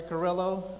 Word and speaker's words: Carrillo: we go hello everyone my name is carillo sometimes people pronounce it as a gorilla at him I'm good either way this is my first